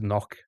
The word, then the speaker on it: knock: then tinkle silent k cuz knock has a silent k.